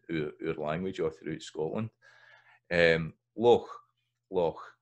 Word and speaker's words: loch: And then another sound we've got here is loch versus loch, loch. You'll hear that pronounced with a K a lot of time